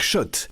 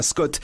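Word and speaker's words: Schott: Jouez et gagnez sur RMC avec Shot, la marque iconique new-yorkaise depuis 1913. Oui, Shot. Et pas Scott, ça fait des années qu'on prononce mal la marque.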